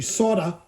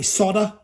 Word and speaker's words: solder: Okay, that's now ready to solder. You Americans say solder. Us Aussies and the English, people that actually speak English, that's offensive, isn't it? We call it solder. Don't ask me why.